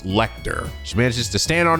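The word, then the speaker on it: Lechter: guys say is pronounced, it's not Lecture, it's Lecter.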